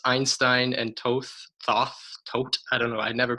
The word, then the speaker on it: Thoth: It's Einstein and Toth. I don't know, I never pronounce it right, but, or maybe I do because I do all the pronunciations. Thoth.